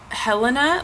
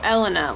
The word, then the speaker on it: Elena: it up to someone they say Helena like they ask me how to say it and I'm like no Elena like with an e and they're like Oh I thought you said Helena and I just know